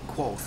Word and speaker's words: Kvothe: meet a young guy by the name of quo uh which of course that's how you pronounce it it's actually spelled KV uh t h but it's pronounced quo and uh it's it's an awesome story about